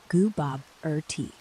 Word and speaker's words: Gooboberti: Your pronunciation is set as Gooboberti. Goo as in Goo Goo Baby, Bob as in the name, as in question, tea as in drink with jam and bread.